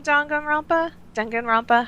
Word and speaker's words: Danganronpa: I loved the first game, Danganronpa. I don't know how to pronounce it.